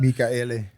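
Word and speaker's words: Mikaele: We also had someone in praising Thomas Michaele. Apparently, No, it's 4 syllables, yeah. That's how you pronounce his name. Someone gave us the pronunciation of that. Michaele.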